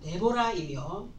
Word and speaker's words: 드보라: 그래서 여기에 대한 설명을 좀 하고 본문으로 넘어가 보려고 하는데, 드보라라고 하는 사람은 이스라엘의 네 번째 사사로 여자였고, 드보라의 히브리식 발음은 데보라이며 이 이름의 뜻은 꿀벌입니다.